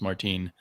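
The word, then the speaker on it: Martín: by ed brubaker and marcos martine i think is the way to pronounce his name and just us americans would say martin and his wife who's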